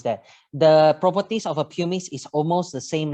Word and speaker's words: pumice: enhancer so that is i'm not sure my pronunciation has a pure mix p u r m i c oh pumice yep yeah so can we